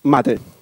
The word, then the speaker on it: MATE: correct pronunciation and it's mate the word came from Spanish it's a beverage from the South America and mate as another